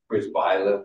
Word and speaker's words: Przybyla: The P-R-Z is a psh.